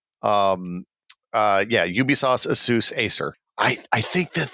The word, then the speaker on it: Asus: too much but uh is Asus the official pronunciation of that company on this podcast I have been told by the representatives of assus over the years that the company's name is Aus yeah I mean I've